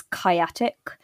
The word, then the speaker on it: kyatic: actually quite like it you're you're playing on chaotic yeah i've always no